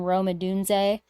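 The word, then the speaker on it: Rome Odunze: mentioned they drafted also in the first round romad dun uh which that is how you pronounce his name yes I just want to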